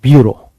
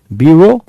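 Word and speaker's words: bureau: देखिए top officials जो होते हैं वो तो बी यू आर ई ए यू ये है इसकी spelling ब्यूरो ब्यूरो cracy ब्यूरो का मतलब होता है हमेशा ऑफिशियलल्स ब्यूरोक्रेट्स याद रखिएगा।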